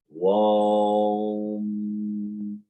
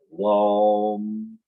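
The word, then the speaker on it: vam: fashion it's pronoun and so this Tana is pronounced warm similarly as we pronounce o but starting with v warm no this is I must let you know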